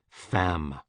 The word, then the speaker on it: femme: Femme, woman, rhymes with infâme, infamous.